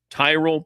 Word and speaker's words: Tyrol: It's Tyrell pickleball shoes. You spell it Tyrol. Tyrell pickleball shoes, the best pickleball shoes, purpose-built for pickleball.